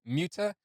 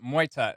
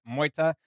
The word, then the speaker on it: MEUTE: And someone had let me know prior that I was mispronouncing the band name, where I was saying previously MEUTE, where it's pronounced MEUTE.